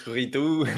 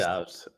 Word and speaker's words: Ridout: Yeah, people think it's Ridout, like French, or the other one I get is Ridout, but it's Ridout? actually Ridout, it's pronounced. Ridout.